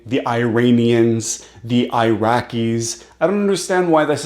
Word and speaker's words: Iraq: It's Iran, it's Iraq. You don't have to say it that way, but it's E, not I.